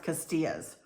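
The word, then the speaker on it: Castiglia's: But Castilla's, Castiglia', but it's pronounced Castilla's.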